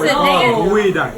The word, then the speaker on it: geoduck: Oh, geoduck! I can't even pronounce it. Dang it. gooey duck. Oh, gooey duck. Yeah, not Gil duck.